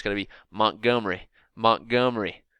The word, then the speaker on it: Montgomery: in Montgomery Alabama and you can't say it Montgomery you got to eliminate the e even though there's an e in there you can't pronounce it that way it's going to be Montgomery Montgomery it's like there's